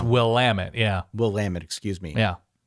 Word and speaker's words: Willamette: It's Willamette, yeah.